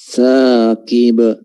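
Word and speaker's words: ثاقب: Sekarang kan dia tebal akhirnya karena mau huruf qaf diucapkan juga tebal. Tidak. Tetap dia tarqiq dari awal sampai akhir. Di saqib. An-najmu thaqib.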